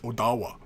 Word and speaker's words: Ottawa: the word Ottawa yeah it's when you say it under certain dialects item Odawa right it's not a tea sound it's a does sound right in some dialects of Michigan right what else I